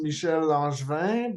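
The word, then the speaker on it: Michel Langevin: I'm so sorry oh yeah my name is Michelle langevin but I'm also known as aware yeah yeah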